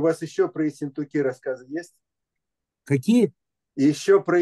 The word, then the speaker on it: Ессентуки: когда, ой, извините, когда я читал Лагина, я делал ударение на «у» – «Ессентуки», потому что он Нет. потом стал «Пивораки». Нет, А, Ессентуки. но в тексте, который я читал, ударение проставлено не было, поэтому… Понятно.